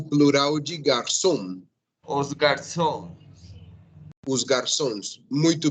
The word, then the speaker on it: garçom: Lembre que a palavra a pronúncia é garçom.